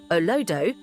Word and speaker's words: Olodo: In Nigerian slang, Olodo, pronounced Olodo, refers to someone who is considered dull, unintelligent, or clueless, particularly in academics.